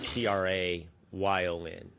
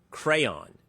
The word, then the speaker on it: crayon: I don't know where you get crown out of CR A Y O N. I don't know where you get crowns from that. It is appropriately pronounced crayon.